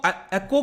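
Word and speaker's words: עכו: मिल रहा होगा एकर, इसका ये इंग्लिश में प्रोनाउंसिएशन तो आई थिंक एकर कहेंगे, लेकिन हिब्रू में इसको एक्को कहा जाता है और अरबिक में अक्का भी कहा जाता है, ठीक है।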